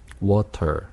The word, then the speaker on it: water: 양쪽 모음에 이제 겹쳐져 있을 때는 약한 D 발음으로 해버리면 됩니다.